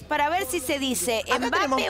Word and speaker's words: Mbappé: Mbappé. Aguda, con la E final.